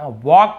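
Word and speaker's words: walk: वॉक यानी टहलना, यहाँ पर भी एल साइलेंट है, वॉल्क नहीं पढ़ेंगे, वॉक पढ़ेंगे, वॉक टॉक, इस प्रकार से, ठीक है, वॉक यानी टहलना।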